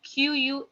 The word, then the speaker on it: quatorze: 14 is written down as QUATORZE, which is being pronounced as quatorze, quatorze. Okay, a soft sound is there. Quatorze.